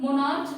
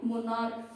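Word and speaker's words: monarch: जैसे एग्जांपल है मोनार्क, मोनार्च नहीं बोलेंगे, है ना, क्या बोलनी है, मोनार्क।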